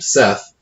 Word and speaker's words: Seth: For instance, the name Seth is pronounced Set.